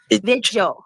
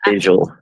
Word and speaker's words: vigil: Vigil. Vigil. Vigil. Vigil. Vigil. Vigil. People they get so Oh, if you pronounce it. vigil. Oh, Seth people say says visual.